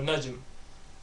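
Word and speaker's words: نجم: Again, you gotta make sure you get that meme sound at the end of it. So the light meme sound at the end of it, so najm.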